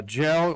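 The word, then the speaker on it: Kjell: Uh Jel Lindren, his name is spelled KG L. You may wonder about that.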